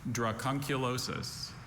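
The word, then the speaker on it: dracunculosis: Drachunulosis.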